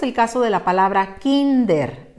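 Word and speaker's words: kínder: caso de la palabra kinder de dos sílabas esta palabra termine en r y con su pronunciación al natural nos llevaríamos la sorpresa de que dice kinder y como no queremos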